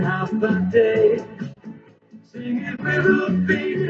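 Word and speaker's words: Håfa Adai: Just pronounce it as in half a day.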